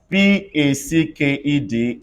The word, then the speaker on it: packed: to the next one D can turn to G do you also know that d Canton to see in what situation everybody they can turn to T when Ed comes after k b s or F or or give me examples s l a c k e d everybody says slacked can I have a replacement of maca if I have p a c k e d everybody say packed if I have p